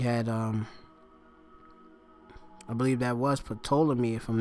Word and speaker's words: Ptolemy: Just put Ptolemy, or Ptolemy, that's how you pronounce it, yeah.